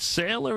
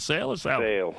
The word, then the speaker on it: Sale: is it is it is it sailor is it Sally for for Christmas is it sales it is sale okay yeah there's a